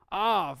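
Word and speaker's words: אב: for me close off off that's a bet but it has no doggish in it which means it receives v pronunciation off that's a really simple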